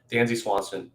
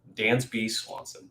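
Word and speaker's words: Dansby Swanson: bottom of the fifth dancy swanston is on dan's b swanson who wants to say his name right is on first base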